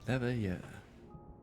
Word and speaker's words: Leveilleur: Leveilleur. That's how it's And you pronounced.